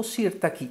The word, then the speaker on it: Sirtaki: quando Pino Mango pubblicò Sirtaki o Sirtaki Se vogliamo dirla con l'accento sulla i che un po' più alla greca che peraltro richiama anche